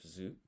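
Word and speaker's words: づ: using this version of zoo where its rom equivalent is du but is pronounced z u zoo and then to drink is m.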